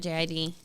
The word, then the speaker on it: JID: song with is it JID? Yeah. And they're Someone like told me he pronounces it as Jid, Jid.